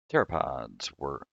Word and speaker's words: pteropods: Pteropods the P is silent, are small swimming snails with thin, delicate calcium carbonate shells.